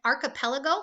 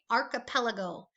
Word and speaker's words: archipelago: the last one is archipelago like an arc okay archipelago go ahead archipelago good